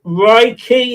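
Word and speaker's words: Raikhy: So, I've just Reiki, is it pronounced?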